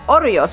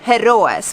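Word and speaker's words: hórreos: These things behind me here are orollos, which Alex very beautifully in Galicia in the last video pronounced heroes, which was obviously quite wrong.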